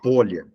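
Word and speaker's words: Pólya: A pronúncia é George Polya, né? Mas a gente fala Polia, que todo mundo fala Polia, né? Mas a pronúncia correta, eu já ouvi de alguns acadêmicos, Polya.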